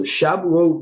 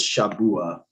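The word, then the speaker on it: שבוע: account all right so shabu means weeks hence feast of weeks this word is plural form of weak or i guess shabua would actually be the right way to pronounce that yes um we you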